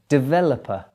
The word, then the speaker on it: developer: word vegetable next one developer the stress there is in the middle of the word can you hear that developer developer and finally comfortable